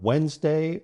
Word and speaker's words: Wednesday: Is the event on Wednesday or Thursday? Excellent. Don't forget, it's a concise word with just 2 parts, Wednesday.